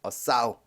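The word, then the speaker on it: sow: 그 다음에 싸우. 이거 발음이 싸우죠. 씨를 뿌리다 할 때는 쏘우고, 이건 암태지죠.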